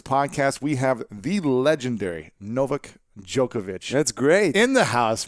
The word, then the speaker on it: Novak Djokovic: We have the legendary Novak Djokovic. That's great. In the house, man. You pronounced it very well.